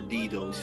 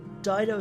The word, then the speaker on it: Dido: Dido or Dido's faithful. Yeah. You could say either. Dido is how it's often said in English. Dido would probably be more how it would be pronounced in Latin.